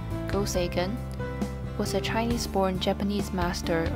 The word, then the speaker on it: Go Seigen: better known by the japanese pronunciation of his name go sagan was a chinese-born japanese